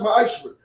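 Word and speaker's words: מעשר: Means 10th in Hebrew, and it's pronounced ma'ashra. 10% of every penny of any increase the Lord gives you, give to the treasury department or teacher.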